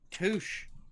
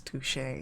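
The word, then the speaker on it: touché: Touch to as the high society friends say. Ron who nods uh with a yawn. Uh I'm pretty sure that our high society friends have pronounced it as touche.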